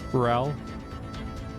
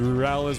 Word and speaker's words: Rurales: LaGuardia Rurales, I'm afraid of reading if I'm gonna say words wrong.